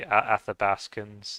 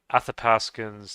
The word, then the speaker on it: Athapaskans: the ancestry of the athabaskans uh it's actually pronounced with a p than a b cu I think that's part of how you would pronounce the language um athapaskans they had the ancestry